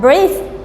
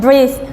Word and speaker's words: breathe: as a noun, but breathe, we add E, B, O, E, A, T, H, E. Here, if we add E at the end, it becomes a verb. So we pronounce it breathe, breathe.